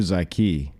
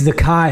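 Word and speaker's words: Zykie: Is it Zakai or Zaki? It's Zakai Hilton. It's spelled Z Y K I E, but he has come out with a pronunciation that it's Zakai.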